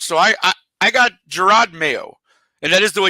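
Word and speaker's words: Jerod Mayo: with the coach so I I I got Gerard mayo and that is the way you pronounce it I had to look it up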